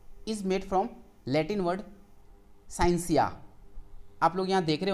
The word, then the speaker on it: scientia: The English word साइंस is made from Latin word साइंसिया। आप लोग यहाँ देख रहे होंगे ये वर्ड, यहाँ पे इसकी स्पेलिंग SCIENTIA, तो साइंटिया नहीं है, यहाँ पे टी साइलेंट होगा, उसको पढ़ेंगे साइंसिया।